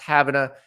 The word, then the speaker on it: Havana: a Florida spelled like Havana Cuba but it's pronounced Havana it's right on the Florida Georgia border it